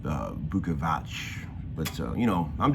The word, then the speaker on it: Bukovac: at being Slovenian with my weird last name lukavac which I found it I'm pronouncing wrong all these years but apparently in Slovenia they call it Vuckovich but so you know